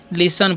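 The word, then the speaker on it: listen: हम क्या पढ़ते हैं लिसन पढ़ते हैं यहां पर टी साइलें तो लिस्टन नहीं पढ़ना है तो गलत हो जाएगा लिसन मतलब क्या होता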